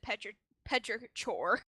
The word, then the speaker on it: petrichor: They pronounced it Petrichor.